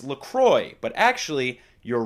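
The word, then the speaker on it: LaCroix: saw people say lroy I'm like what is lacroy where's the X like I felt dumb saying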